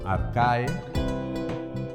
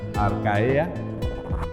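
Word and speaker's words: Archaea: Aquí tenemos el reino arcae, no se pronuncia arcaea en latín, y en griego, cuando vean una EA, se pronuncia como E.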